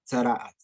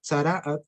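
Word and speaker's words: צרעת: Se pronuncia así, tzaraat. O aún más, mejor dicho, más específico que decir tzaraat, como dice aquí la palabra, si ustedes se dan cuenta, dice, traducen así, llaga de lepra.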